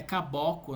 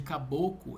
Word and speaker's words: caboclo: E tem outra palavrinha também que ele erra a pronúncia, que é caboco, né? Em vez de caboclo, ele fala caboco no final, né?